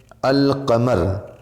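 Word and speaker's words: القمر: है अलिफ़ और लाम, लेकिन इसके अंदर साइलेंट नहीं रहता है, इसके अंदर आवाज़ आएगी। जैसे अल क़मर, अल बदर वग़ैरह।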